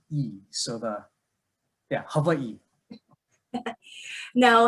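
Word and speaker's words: Hawaiʻi: okay so it's actually hawaii so the w is pronounced like a v and then that little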